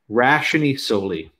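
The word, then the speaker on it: ratione soli: The doctrine called Rationi Soli. I'm going to say it. Rationi Soli. It's spelled R-A-T-I-O-N-E.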